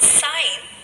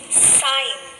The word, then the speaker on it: sign: so the word is sign so here the sound of letter g is silent let us read some